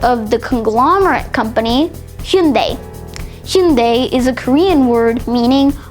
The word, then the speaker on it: Hyundai: The way that you normally pronounce it is Hyundai or Hyundai. However, the official Korean pronunciation is more like Hyundai instead. So that's Hyundai.